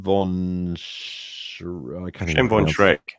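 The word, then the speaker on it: von Schroeck: We also got here Shem von Shrek. Thank you. Von Shrek, as in like Shrek, the green dude. Same pronunciation. Really.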